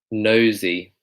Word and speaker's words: nosy: one this one here this one's pronounced nosey nosey nosey again it's kind of like that a Zed sound nosey but he couldn't help